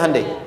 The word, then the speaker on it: Hyundai: Hyundai kan dibacanya Hande ya kan? Sana Honda, sini Handai gitu.